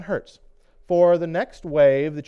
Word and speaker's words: Hertz: It's spelled like the rental car company, but it's Heinrich Hertz, if I remember correctly.